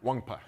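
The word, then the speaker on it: Nwankpa: Yeah, for the viewers out there, pronounce Xavier's last name one more time. Wangpa.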